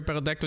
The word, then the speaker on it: Pterodactyl: Why can't you hear Pterodactyl in the bathroom? Because the P is silent.